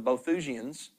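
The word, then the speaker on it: Boethusians: ancient group called The I believe it's pronounced the bothusians could have been part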